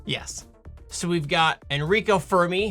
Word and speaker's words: Fermi: So, we've got Enrico Fermi, who technically I think it's pronounced Fair-Me, but it's going to be... That's an uphill battle for me.